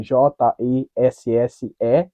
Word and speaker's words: Jessé: todo mundo conhece e o meu nome se escreve j e ss é então tem um acento no e no primeiro no último aí você fala Jessé e a cidade de